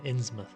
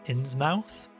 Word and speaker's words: Innsmouth: to very deliberately choose how i pronounce the name insmoth and i am aware that it could be pronounced inn's mouth obviously but i am